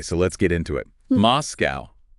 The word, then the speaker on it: MoSCoW: MoSCoW. The O's are just there to make it pronounceable, by the way.